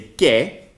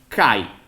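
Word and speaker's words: καί: So, as most of you know, in the Erasmian pronunciation, the pronunciation of a word like modern Greeks would say ke, right? In the Erasmian would be kai.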